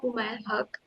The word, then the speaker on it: Umair Haq: I hope I am pronouncing your name correct. Thank you, Archita. You're absolutely spot on.